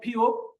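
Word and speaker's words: 피읖: আর এটা হলো ফিউক। ফিউকের উচ্চারণ ফ, নিচে বসলে হবে প। তারপরে এটা হলো হিউত।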